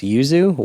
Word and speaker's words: Yuzu: But back to Adam's email, there is an emulator for the Switch called the I think it's pronounced Yuzu, Yuzu.